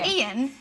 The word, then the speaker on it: Ian: But because of the Geordie accent, they think they're saying Ian, but they're saying Ian. That's funny. We're like, no, it's 2 syllables. Ian. We're saying 2 syllables. Ian. No. It's 2. Oh, it's exactly the same. It's not. It's not exactly the same. It's Ian. Not Ian. Ian is 1. Ian is 2.